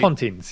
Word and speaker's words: Pontins: Is this Pontins? This has to be a UK thing, right? Pontins, yes, yeah.